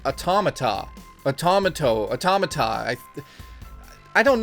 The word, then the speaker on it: Automata: such a long time it looks like Otto Maeda but it's actually automata a tomahto automata I